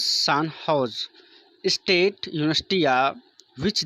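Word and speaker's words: San Jose: Recently the सैन जोस pronounce सान हाउस state university which they were formed students honour them एंड install there statue in the university campus.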